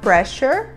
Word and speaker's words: pressure: e nós falamos crusher o ss nessa palavra ganha um som de x que a gente vai falar Pressure uma palavra terminada com a